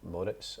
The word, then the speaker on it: Moritz: He did tell me actually when he signed that he pronounced his name Moritz, as in San Moritz.